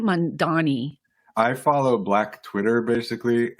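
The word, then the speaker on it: Mamdani: Mandami. How do you say his name? Mandani.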